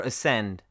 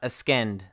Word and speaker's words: ascend: like science, not science, or ascend, not askend, disciple, and muscle, not muscle.